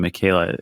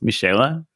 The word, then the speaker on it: Michaela: We've been saying Michaela. It's Michaela. Is that right? Michaela is fine.